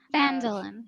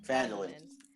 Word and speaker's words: Phandalin: I can never pronounce the name of the city. Sorry. Phandalin. Phandalin.